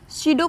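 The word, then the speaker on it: pseudo: स्यूडो को ऐसे लिखते हैं पी साइलेंट होता है यहाँ पे।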